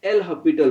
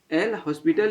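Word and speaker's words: L'Hôpital: हैं, ठीक है ना, एल हॉस्पिटल या एल हॉस्पिटल, इसको शॉर्ट में हॉस्पिटल जो है ना, हॉस्पिटल हम लोग इंडिया में ही बोलते हैं, बाहर में एन एस जो है साइलेंट रहता है, तो एन एल हॉस्पिटल्स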